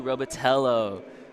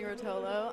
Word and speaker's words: Rotolo: My name is Benjamin Quatch and today with me I have Robotello. Did I pronounce right? You did not, but it was okay. Hi, my name is Rotolo.